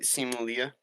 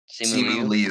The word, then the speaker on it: Simu Liu: Simu Leah? Simu Liu.